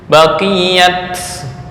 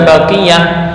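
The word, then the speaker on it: بقيت: lnatallahi laknat maksasul maksiat kalimat baqiat Bukan baqiah padahal aslinya adalah baqiah pakai tak marbut tapi karena ini semuanya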